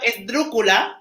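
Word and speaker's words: esdrújula: And then you would have esdrúcula, I think I'm saying it right, which would be words that have got 3 syllables. And then it would go on the first syllable.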